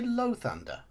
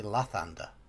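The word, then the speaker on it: Lathander: from a house of lothender did you say low Thunder that's not our pronunciation I would say that'd be La Thunder okay oh he wants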